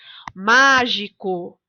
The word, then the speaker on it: mágico: Mágico. Na palavra mágico, a sílaba tônica é o má.